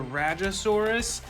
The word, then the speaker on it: Rajasaurus: I believe it's pronounced the Rajasaurus.